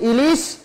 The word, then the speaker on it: ইলিশ: ই মনে রাখতে হবে বাংলা উচ্চারণের নিয়মে রস ই থাক আর দীর্ঘ ই থাক উভয় ক্ষেত্রে শুধু রস ই উচ্চারণ হবে অর্থাৎ আমরা যদি বলি ইলিশ তাহলে রস ই দিয়ে লিখবো যদি বলি ইগল বানান